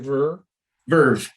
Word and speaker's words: Verve: So, so now then you're gonna with Ver. Is that I'm saying it right? Verve, like bittersweet symphony, the Verve.